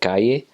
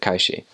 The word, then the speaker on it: calle: a y syllable um you would pronounce that with a sh like a sh sound instead of a like a y sound like they do in